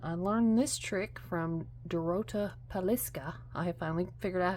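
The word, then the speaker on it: Dorota Palicka: And I learned this trick from Dorota Paliska.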